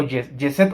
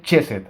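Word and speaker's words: חסד: Ahora vamos con Cheset o Yeset o Cheset. Se escribe Geset. Y muchos lo pronuncian Geset o Cheset o Cheset o Yeset. Pero vamos a decirle Cheset, ¿va?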